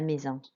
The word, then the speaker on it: maison: Okay, and then maison, an AI is an A sound, an S makes like a Z sound, and en makes like an en sound, which is nasal.